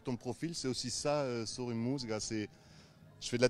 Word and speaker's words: Sori Musica: Sori Musica, l'accent tonique.